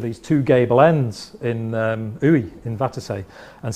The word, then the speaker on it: Uidh: I think Uy is how you pronounce it.